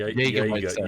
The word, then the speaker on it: Jägermeister: Roll the R. Yeah. You roll the R.